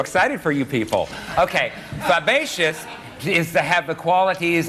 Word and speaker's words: fabaceous: The word, Elaine, is actually pronounced fabaceous.